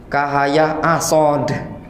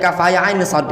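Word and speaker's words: كهيعص: Ada yang baca kaf haya ain sod itu kahaya asod dibacanya. Kahaya asod. Berarti kan tidak baca. Kalau tidak tahu itu tadi kan bacanya kaf haya ain sod kan?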